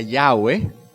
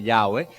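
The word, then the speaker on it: Yahweh: este nombre ya ve la explicación corta es ese es el nombre de jehová ese es el nombre de dios o una una aproximación a lo que era la pronunciación original del nombre que nosotros tenemos en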